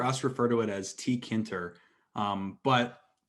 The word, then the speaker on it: tkinter: refer to it as tkinter but commonly it is derived from the tk interface so the correct way would be tk enter to pronounce it but um these are